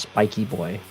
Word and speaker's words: Spiky Boy: Spiky Boy contacted me and said that it is indeed pronounced Spiky Boy.